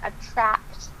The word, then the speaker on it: attract: Let's try to practice the difference between attract and attack. Okay, clearly there's the R sound, attract, attack.